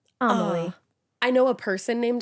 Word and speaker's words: Amelie: You said pronounced like Emily, but with an A in the beginning. Amelie.